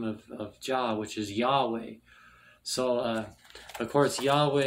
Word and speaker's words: Yahweh: to thus pronounce most degree it would be pronounced Yahweh so why and the things go backwards in Hebrew so y-h-w-hate pronounced Yahweh Yohe is the tetragram and the uh tetragrammaton